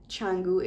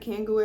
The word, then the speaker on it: Canggu: I might have heard one or two, but it was mostly when I was in the Canggu area. I was pronouncing that Kangoo at first.